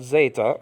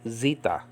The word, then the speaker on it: zeta: Greek The Zeta is uh uh is called Zeta okay and in modern Greek is called Zita okay remember the Greeks love that e I